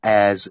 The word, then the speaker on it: heirs: heirs to a mistake so h-e-i-r-s is the way you say as isn't it to a state but there is air um phonetically they sound the same you know until you see them written down so the admiralty